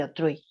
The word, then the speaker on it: autrui: Se pronuncia otro y autrui.